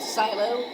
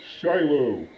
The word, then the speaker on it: Shiloh: Shut up, Silo. No one asked you. My name is Shiloh, with an H, not Silo. You said it wrong.